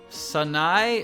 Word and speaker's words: Sanae: わからないことは人に聞く Sanae, Sanae. I know, 3 syllables.